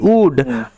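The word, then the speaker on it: would: ও ইউ এল ডি উড আর এস এইচ ও ইউ এল ডি সুড এই তিনটেকে ভালোমতো মাথায় রাখতে হবে এইখানে এল সাইলেন্ট থাকে উড কুট সুড উড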